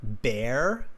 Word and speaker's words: bear: Like you said, the word bear. You had a cuddly teddy bear, and you pronounced it kind of like beer, like the drink, like drinking beer.